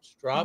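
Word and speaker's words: Stroppe: So Rob's asking, do you think the 60th will replace the strop? Did I say it right? Strop? You did. It's like stop sign.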